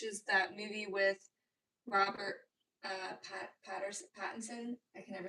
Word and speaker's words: Pattinson: The Drama, which is that movie with Robert Pattinson. I can never say his name. I was going to call him Robert Patterson.